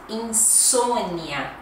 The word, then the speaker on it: insônia: Olha a pronúncia, insônia.